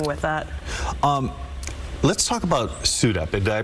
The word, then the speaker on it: SUDEP: Let's talk about SUDEP. Did I pronounce that correctly?